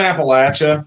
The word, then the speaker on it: Appalachia: Some people get it wrong, but yeah, we're in Appalachia. That's how you pronounce it. That's that's a pet peeve of mine when they call Appalachia.